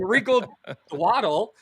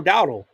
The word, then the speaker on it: Dowdle: Rico Dowdle. Thank you, Mikey. There's no W at the beginning of Dowdle. It's not Dowdle. It's Dowdle.